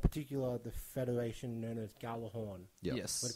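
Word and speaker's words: Gjallarhorn: It's pronounced... Galahorn? Yeah, that's right. Galahorn? Yep. Galahorn.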